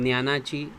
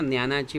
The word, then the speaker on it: ज्ञानाची: ज्ञानाची, है ना, ज्ञानाची मराठी में पढ़ेंगे और ज्ञानाची हिंदी में बोलते हैं ज्ञ। तो ज्ञानाची, तो हम इसको कैसे प्रोनाउंस करेंगे? ज्ञानाची। तो नव्या युगात ज्ञानाची, है ना, या ज्ञानाची, दोनों भी इसमें राइट जाता है स्टूडेंट्स, इसमें कन्फ्यूजन नहीं रखना।